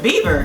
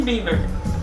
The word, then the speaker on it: Bieber: But Justin Bieber, he was the winning. Did I say it right this time? Let me say it one more time. Justin Bieber.